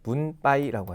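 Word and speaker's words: 分配: 그들 사이에서 뭐 뭐 붐빠이 살했다 분배되었다라고 할 때 분배라는 단어는 분빠이라고 하죠 흔히 이제 우리 한국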